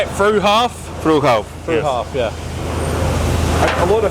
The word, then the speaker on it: Fruehauf: Fruehauf.